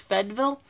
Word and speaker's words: Fayetteville: Tennessee well Fayetteville which by the locals is pronounced fed Vil and then split volt a distant suburb of